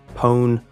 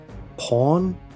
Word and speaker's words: pwn: the two slang terms the word punon which has numerous pronunciations including own pone or pone Pawn peon comes from own to own someone would